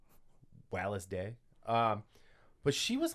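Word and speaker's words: Wallis: is at wallace day i i'm assuming that's how you say it i haven't seen anybody pronounce it any other way it's w-a-l-l-i-s so uh she's british or so maybe it's wallace wallace day um but she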